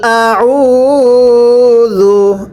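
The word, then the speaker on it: أعوذ: জু, একসাথে পড়বেন, কুল আউযু, আবারও পড়তে হবে কুল আউযু। এখানে আপনারা স্মরণ রাখবেন এটা হামজা, এটা আইন, আইনটা উচ্চারণের সময় গলার মধ্যে চাপ দিয়ে পড়তে হবে, হামজাটা স্বাভাবিকভাবে পড়তে হবে।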